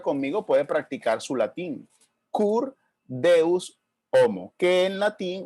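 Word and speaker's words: Cur Deus Homo: homo curt deus homo Y si usted lo pronuncia Conmigo puede practicar su latín Kurt deus homo que en latín o mejor dicho en español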